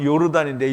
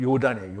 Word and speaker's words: 요단: 요단 손위에 거한다 그러는데, 우리가 요단은, 그러니까 우리가 요즘 발음으로 하면 요르단인데 영어로 하면 요르단이고요. 그냥 히브리 발음으로 하면 요단이에요.